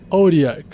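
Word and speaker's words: Otyugh: com limos ugs Puxa essa criatura se escreve o t Yu G H em inglês se pronuncia orac mais pra frente eu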